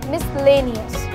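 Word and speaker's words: miscellaneous: अगर मैं बोलती हूँ मिसलेनियस, तो इसमें भी जब आप स्पेलिंग देखेंगे जो कि आपकी स्क्रीन पर आ रही होगी, तो S और C एक साथ आता है, बट हमने केवल S को प्रोनाउंस किया और C को छोड़ दिया। इसका करेक्ट प्रोनाउंसिएशन है मिसलेनियस। नेक्स्ट रूल है बच्चों कि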